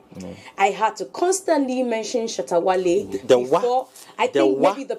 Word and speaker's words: Shatta Wale: I had to constantly mention Shatta Wale before. I think maybe the pronunciation. So it's wow. It's Wale. Shatta Wale.